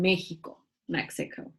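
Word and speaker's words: México: Well, we come from a long line of people from Mexico. That's how you say Mexico in Spanish, right?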